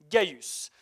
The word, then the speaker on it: Gaius: ça s'écrit avec un C mais ça se prononce gïus il est né en 12 après Jésus-Christ et